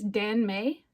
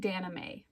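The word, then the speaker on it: danmei: It's Dan May. I was saying Daname. It's Dan May. Dan May.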